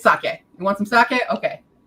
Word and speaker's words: sake: here's your thing is emphasis in Japanese more often than not is on the first syllable but in English it's usually on the second yeah so saki means